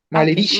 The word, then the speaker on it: malerischen: Recuerden, todos tenemos primero la S, luego la C y luego la H. ¿Qué sonido se logra con esa unión de esas tres consonantes? El sonido ¿Una H? exacto, de lo que en español se denomina che, la C, la H.